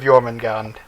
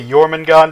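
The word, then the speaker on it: Jörmungandr: you guys think of yman gon and I'm just gonna say yman gon because I believe that the J is a y sound yeah so why oh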